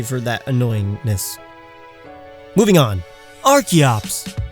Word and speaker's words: Archeops: Archeops. Named after and based on the Archaeopteryx, so not Archeops.